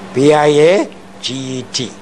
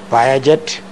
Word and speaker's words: Piaget: P-I-A-G-E-T. Pronounced not Piaget, but Piaget. The Swiss, French-speaking Swiss.